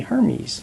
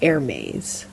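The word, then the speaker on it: Hermès: Watch the cartoon movie Hermes right but it's not it's air maze um but you know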